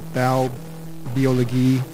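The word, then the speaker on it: Baubiologie: I'm a building biologist the German pronunciation of those terms are val biology which means bow is the German word for building and the oligi is their pronunciation and spelling of biology so what we do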